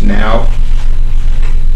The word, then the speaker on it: NAO: of the NAO Robot which is pronounced now and it's a small